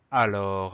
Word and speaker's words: alors: mot c'est le mot alors alors le mot alors il se décrit comme il se prononce sauf qu'on a une lettre muette final c'est le est-ce qu'on n'entend pas donc il faut bien